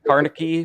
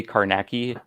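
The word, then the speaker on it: Carnacki: Yeah, some people say Carnegie, some people say Karnacki.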